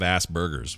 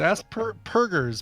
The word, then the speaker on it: Asperger's: That's not how it's spelled, Scott, or pronounced. Oh, all right. It's Asperger's. Purgers. There's no B in there.